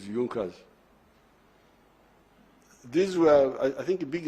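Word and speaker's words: Junkers: don't know this European they write junas but they say yunas that the pronunciation is yunkers these were I think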